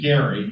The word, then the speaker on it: Gerry: 11 1812 massachusetts governor elbridge gary yes he pronounced it with a hard g reluctantly signed a redistricting